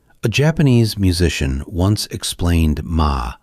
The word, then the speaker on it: 間: It is written like this and it is pronounced ma.